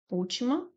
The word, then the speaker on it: última: O última. Temos aqui também uma proparoxítona. Sílaba tônica é a antipenúltima, né?